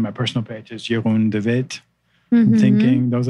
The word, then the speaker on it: Jeroen: My Instagram is my first name, which is spelled Jeroen, you would say, Jeroen, and then is love is my affirmation.